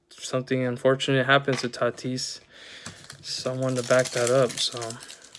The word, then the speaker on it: Tatis: second basement and it's something unfortunately happened to tatis someone to back that up other than my